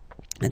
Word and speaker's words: as: So as you can notice, second form AS is pronounced A, and this is A. Same pronunciation in both cases, okay?